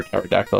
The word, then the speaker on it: pterodactyl: to the bathroom because the p is silent all right so now